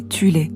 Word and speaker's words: Thule: Avant la montée du régime nazi, il existait en Allemagne une société secrète occulte appelée Soul Society, parfois prononcée Thule, qui comptait des sous-factions en son sein.